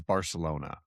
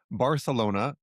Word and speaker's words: Barcelona: Barcelona is indeed the correct Spanish pronunciation, but Barcelona is how Catalan speakers say it.